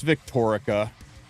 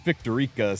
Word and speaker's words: Victoria: Pretty sure I'm mispronouncing that. It's Victoria, but Victor Rica sounds more fun.